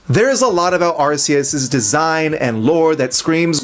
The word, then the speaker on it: Arceus: by Greek and Roman words, it seems like RCS is our answer. I cannot find a single word with C EU S that is pronounced chaos.